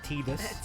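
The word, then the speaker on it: Tidus: his name is pronounced tus take it easy tide like like the sea you know Terror Cloud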